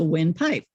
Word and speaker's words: Wynpipe: But win spelled with a Y, so windpipe.